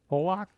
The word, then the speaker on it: Pollock: you say his name Pollock Pollock like the fish so you know why